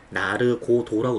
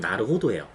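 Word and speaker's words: なるほど: 나르고도라는데 저는 20년 동안 그 발음을 나르고도라고 들었어요. 근데 알고 봤더니 이게 나르호도래요. 직접 확인한 건 아닌데 다른 일본 유튜브 하시는 분들이 이게 쓰시는 거 보면 나르호도예요.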